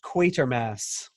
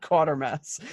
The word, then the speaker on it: Quatermass: It is pronounced Quatermass. Oops. Not Quatermass.